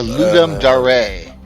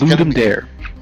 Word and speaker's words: Ludum Dare: It's a Ludum Dare. That's the one. Yeah, he's Ludum Dare. Yeah, no, he says it's Dare. Yeah, I know. Everyone mispronounced it.